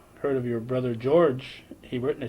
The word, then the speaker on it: Hebert: And of course, Hebert is the French Yeah. pronunciation of Hebert, which is anglicized.